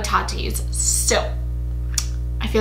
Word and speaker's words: Tati: Rhymes with Tati. Tati the hottie.